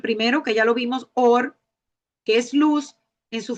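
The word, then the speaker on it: אור: La palabra principal para luz en hebreo es or, que se pronuncia así, or.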